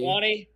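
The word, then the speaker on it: Njokuani: Unjukwani. Injukwani? That's how you say it.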